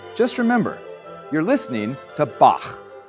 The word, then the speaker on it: Bach: Now, we say Bach in English, but you'll note that his name is spelled B A C. And in German, if a ch comes after an a sound, it's pronounced. So, it's Bach.